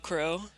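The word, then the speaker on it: Qrow: And then you have Kuro, which is, it's Crow, but it's spelled with a Q at the start because anime.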